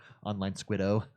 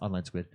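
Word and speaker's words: OnlineSquid0: The O is silent. I have been informed the O or zero is silent at the end multiple times. I always mess up on that one. Online Squid O. Oh, It's Online Squid.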